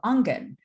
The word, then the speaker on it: Aangen: Hey everybody, my name's and I am the founder and executive director of Angen, and that is spelled Aangen.